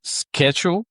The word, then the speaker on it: schedule: And the point of this is to understand SCH is pronounced as sk. We have the word schedule.